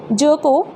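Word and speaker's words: jerk: तो यहाँ पर ई आर इन दोनों से मिलकर हमारा क्या बना है, अ। तो हमने क्या लगाया यहाँ पर, अ। और जो आर है ये हमारा, ये साइलेंट ही रहेगा जब ये इसके बाद में प्रोनाउंस किया जाएगा। तो इसको हम क्या कर सकते हैं, ब्रैकेट में लिख सकते हैं जक।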